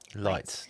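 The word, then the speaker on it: Leitz: His name is spelled light. It sounds lights. It's L E I TZ, but you say it lights.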